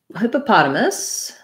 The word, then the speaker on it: hippopotamus: the word hippopotamus um so hippopotamus has stress on the pot syllable hippopotamus um i didn't